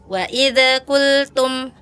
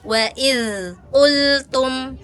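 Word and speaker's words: وَإِذْ قُلْتُمْ: Waid qultum. Waid qultum. Harusnya kalau dza sifatnya rakhawah, ngalir ya. Waidz qultum. Waidz qultum gitu ya, Kak ya. Jangan kalau dia enggak ngalir pasti lepas.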